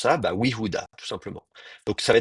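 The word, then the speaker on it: יהודה: Donc vous avez we sans voyelle, y sans voyelle, oui, oui, Fuda, comment on prononce ça? Bah, Yehuda, tout simplement.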